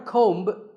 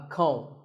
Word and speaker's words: comb: This is a comb. Not a comb, a comb.